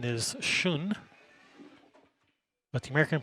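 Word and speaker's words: schön: for a beautiful in the the actual German pronunciation is soon but the American pronunciation is just Shawn some people try to act like they know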